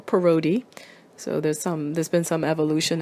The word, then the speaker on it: Parotti: of my foreign surname, the Parotti name, or locally it's pronounced Parotti or Parotti.